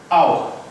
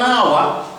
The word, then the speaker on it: hour: We say hour. Now you find that H is silent. We don't sound it. So we say an hour, even though the word hour starts with a consonant.